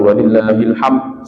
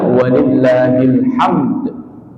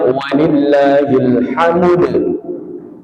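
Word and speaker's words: ولله الحمد: Salah keliru. Kalau bacanya walillahil ham. Ham itu maknanya merpati. Burung merpati. Sebagaimana caranya? Walillahilhamd. Harus disertakan huruf dalnya. Kalau gak bisa walillahilhamd. Boleh dinaqal. Naqal itu harakatnya dipindah. Dammahnya huruf dal dipindah ke huruf mim yang sukun.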